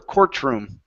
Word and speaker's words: courtroom: cotro it's core core courtroom courtroom there you go one more time courtroom courtroom good now a trick that we do with this instead of pronouncing the T in the middle we say courtroom so it's Court courtroom